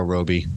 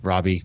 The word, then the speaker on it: Robbie: it's I'm gonna go Margo Roby Robbie sorry I would say it wrong Margot Robbie and for that it's